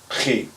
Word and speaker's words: Chi: This next one, however, is back at the back of your throat, and you actually it's an out breath, if I'm not mistaken, and it's pronounced chi, chi. So it's going to be kind of like a what people like to call the hawking sound, but you don't want to spit.